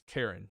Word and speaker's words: Karin: I don't know why they pronounce it that way. Maybe that's just the way it is in Japan. But I'm pretty sure in a lot of the world it's Karen. But Karin is how it's pronounced here.